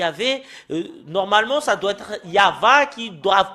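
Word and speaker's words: יה: translitération c'est halallaluya et quand les Hébreux le prononc son ya bah il faut pas le changer avec d'autres choses il faut pas le M il faut pas le changer en Yaou il y a euh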